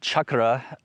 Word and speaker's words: chakra: This word chakra means wheel, literally. It's pronounced chakra and not chakra in its traditional, Sanskrit pronunciation.